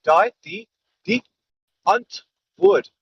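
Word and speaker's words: Die Antwoord: say it all right you say d d as in the d die die d d hunt would so uh dude yeah um don't think flemish think of more like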